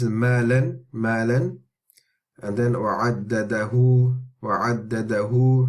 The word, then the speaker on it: وعدده: And then وعدده, وعدده. Remember, this is the diminutive med of the dhamma. So it's like a waw at the end.